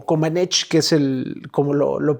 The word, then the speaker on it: Comaneci: Y bueno, empieza este proceso en la parte política, mientras que Nadia Comaneci, o Comaneci, que es como lo pronuncian, estaba ella en una escuela, estaba con